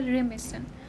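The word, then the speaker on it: remiss: तो इन वाले हमने 3 पढ़े, कौन कौन से, your negligent in, your proficient in, your रेमिसन, देखो प्रोनाउंसिएशन को देखो, रेमिसन, तो रीमिस इन, केयरलेस, नेग्लेक्टफुल ऑफ, लैक ऑफ।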